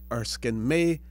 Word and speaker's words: Erskine May: Some people pronounce it Erskine Mays, but I believe it is Erskine May, M-A-Y.